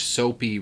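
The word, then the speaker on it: Soppe: Also, I know that it's spelled S-O-P-P-E, but that's the That's the positive part about sitting near the parents, is that they say the names right.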